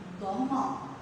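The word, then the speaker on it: ضمة: जी, तो सही गेस किया आपने, दम्मा। दम्मा। हाँ जी, जुम्मा नहीं कहेंगे इसे, काफी बच्चे थोड़ा सा गलत प्रोनाउंस करते हैं इसे।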